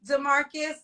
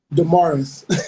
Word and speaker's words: Damaris: They like you, Demarcus. Am I saying it right? Damaris. Damaris. It's the story of my life.